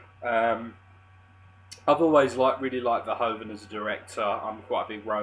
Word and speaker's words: Verhoeven: This is the Paul Verhoeven movie. I believe it's pronounced Verhoeven.